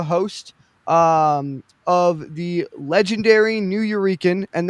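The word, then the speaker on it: Nuyorican: Um he is the host um of the legendary New Eurekan and that is a combination of New Yorker and Puerto Rican. Um it is pronounced New Euran.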